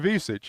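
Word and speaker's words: Ivišić: Well, the pronunciation. is Zvonimir Ivisic.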